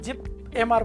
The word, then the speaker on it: JIPMER: सो तीसरे नंबर पे हम काय बात कर रहे हैं JIPMR इसको बोला जाता है, जिप बोला जाता है, JIPMER नहीं बोला जाता, JIPMR बोला जाता है, जिसका फुल फॉर्म होता है जवाहरलाल इंस्टीट्यूट।